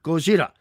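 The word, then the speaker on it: ゴジラ: Just like we got the word Godzilla because Westerners misheard Gojira. They thought that the Japanese were saying Godzilla and mispronouncing the two L's, but they were actually pronouncing it correctly.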